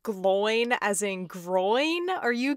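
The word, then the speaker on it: Glóin: like, it's not pronounced Gloin as in groin. Are you kidding me? No, it's Gloin, because there's an accent over the I.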